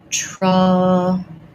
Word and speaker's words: trouble: So first of all, trouble has the schwa sound, first syllable stress. So we're going to put the stress schwa symbol in there. And then it has our syllabic L that we were talking about earlier in class. Thinking about that like trouble. So again, there's maybe a little schwa, a little O sound there between my B and my L, but first syllable stress, trouble, versus travel.